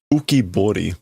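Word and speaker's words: 浮き彫り: Ukibori. Bori. Okay, so this would normally be pronounced ukibori, which is a relief, a carving, that sort of a thing.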